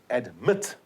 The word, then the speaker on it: admit: Admit. The accent is on the second syllable.